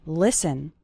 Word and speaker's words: listen: to an English podcast the letter T is silent in the word listen listen listen to an